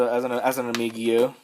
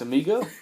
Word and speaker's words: amigo: We have Steven as a friend, as an amigio. As amigo. Oh, it's amigo. Yeah. I've been saying amigo wrong this whole entire time. Really? I've been saying amigio.